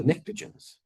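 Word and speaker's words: pnictogens: The oxygen group uh they have similar behaviors and then the nicrogens starts with a P but the P is silent.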